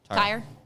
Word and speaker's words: Tyr: Tier Tire, TYR. I just don't want to pronounce it incorrectly. TYR. TYR. Tire.